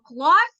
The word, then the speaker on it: cloth: So cloth sí suena duro, and the other one, clothes, o clothes, es solo la suavecito, la D y la S.